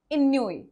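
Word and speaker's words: ennui: इसको नुई भी बोलते हैं या फिर कई लोग इन्नुई भी बोलते हैं। यहाँ ई जनरली साइलेंट होता है, आप नहीं भी रख सकते हैं।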